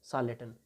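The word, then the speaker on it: charlatan: हैं और इंग्लिश में इसे कहा जाता है सालेटन। इंग्लिश का प्रोनाउंसिएशन आप विशेष तौर पे याद रखें।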